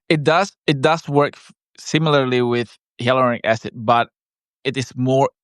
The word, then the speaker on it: hyaluronic: the acid one that I keep mispronouncing? Hyaluronic acid. Hyaluronic acid.